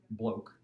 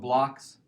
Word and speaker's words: Bloch's: because these German but it is not pronounced bloke which I kind of thought it was for a while but it's called Bloch's theorem and it just